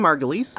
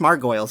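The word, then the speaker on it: Margolyes: could be a scarf could be socks Miriam Margulis it's not pronounced margles by the way oh I'm glad you cleared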